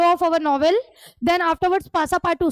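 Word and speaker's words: Passepartout: पासा पाटू जो था पासा पाटू यहां पे हमारे हीरो का एक असिस्टेंट है।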